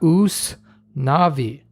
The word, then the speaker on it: Usnavi: And if you're a Spanish speaker, you would pronounce that Us Navi.